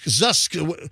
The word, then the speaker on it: Zoosk: So, no, not Zeus. Not Zeus. Not Zeus. Zusk.